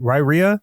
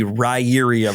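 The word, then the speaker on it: Riyria: I pronounce it Ryria.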